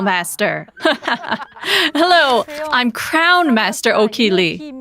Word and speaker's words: Ok-Hee Lee: hello i'm crown master o'keeley sometimes i say it like this i'm okie lee who went from an